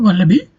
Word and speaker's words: wallaby: It's a word called wallaby. It consists of three syllables, right? As I have divided with a full stop. So, the stress falls on the first syllable.